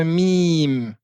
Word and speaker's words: م: Ensuite la lettre mim qui ressemble au M en français. Mim.